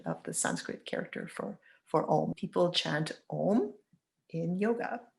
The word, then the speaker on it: Om: People chant Om in yoga, so we can spell it O-M, but there's more to it than that. It's a 4-part cycle, A-U-M space, kind of put that in little quotation marks, representing a primordial sound, representing the idea that everything is a vibration.